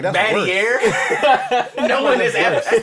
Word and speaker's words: Battier: That's the first time I've ever heard the R on Shane Battier's name. That's the first time I've I ever was heard. like, how do you say it? Battier.